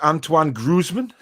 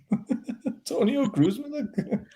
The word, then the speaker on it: Antoine Griezmann: Andy says, Barry, who affects Antoine Griezmann? Antonio Griezmann? It's Antoine Griezmann, Barry.